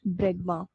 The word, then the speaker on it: bregma: Fifth is, यहाँ पे थोड़ी सी स्पेलिंग गलत है, इसमें ब्रेगमैन नहीं होता है, there is नो N, this is ब्रेगमा, spelling गलत है, राइट समवेयर, इट्स ब्रेगमा, BREGMA.